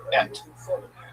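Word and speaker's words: את: Bereshit bara Elohim es hashamayim ve'haaretz. So Bereshit bara, in the beginning, he made, namely God, what? Es. Et. Check my pronunciation to be used correct academic Hebrew. Et.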